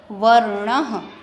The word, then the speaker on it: वर्णः: और इसको पढ़ने के लिए हमें वर्णः, यहाँ पर अह का प्रोनाउंसिएशन होता है, उच्चारण आता है.